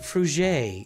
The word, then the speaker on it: Fruget: Your last name is pronounced Fruget. It's French. Excuse me.